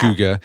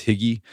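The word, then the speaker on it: hygge: It It's spelled h y g for the longest time. I thought it was higgy, but it's huga.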